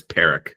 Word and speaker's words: Parikh: It's Parikh, like an icky Parikh. pear. Okay. But that's how I pronounce it.